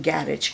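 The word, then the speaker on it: garage: वेज ठीक है okay British में हम कहते हैं गैरेज गैरेज में आप ये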